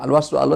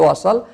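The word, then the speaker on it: الوصل: ya yang artinya apa Al washlu Aula atau al-wasail ya bukan luas lalu tapi washal berarti kita dilarang berhenti disitu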